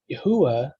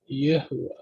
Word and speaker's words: Yahuwah: letter Hey, and therefore the Yod it's not pronounced as an E, it's pronounced as a Y. Yeah, Yahuwah.